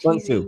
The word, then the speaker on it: Sun Tzu: The Art of War, if you guys don't know, it was written by Sun Tzu, I think you pronounce it, Sun Tzu, TZU. correct.